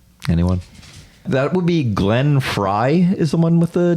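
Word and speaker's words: Frey: I don't know anyone that would be Glenn Fry is the one with the dumb spelled name it is spelled f r e y m question three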